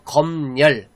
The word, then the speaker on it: 검열: 자, 요거는, 자, 일단 표준 발음이 2개입니다. 자, 이때 미음이 뒤로 이제 넘어가서 검열, 이렇게 읽는 게 있고요. 그 다음에 니은이 첨가돼서 검열, 이렇게 읽을 수도 있어요.